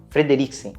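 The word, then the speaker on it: Fredricksen: O Carl Frederiksen, assim que se pronuncia? Frederiksen.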